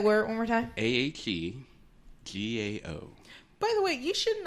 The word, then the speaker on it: Ahegao: Wait, I found the pronunciation. Wait. Oh, look at there. You were spot on. Ahegao.